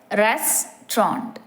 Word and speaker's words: restaurant: should be pronounced so think of the word in two main syllables restrant keeping the middle syllable very short and subtle so it is pronounced